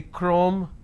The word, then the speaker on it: chrome: have the word chemistry ch becomes curse sound so i say chemistry i say chrome so i do not